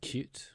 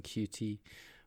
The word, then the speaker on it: Qt: suit you better um technically i think qt is supposed to be pronounced as cute rather than qt but i've heard it pronounced both ways so as long as people know what you're talking about i don't think it really matters so once we've made